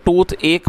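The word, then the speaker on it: toothache: दोस्तों, ये जो वर्ड है आप इसकी प्रोनाउंसिएशन ध्यान से सुने। इसे टूथ एक पढ़ा जाएगा जिसका मतलब होता है दांत का दर्द।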